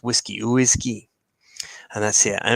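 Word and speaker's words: uisce: the gallic Irish spelling for whiskey but yeah pronounce whiskey oisy and that's it and it was just a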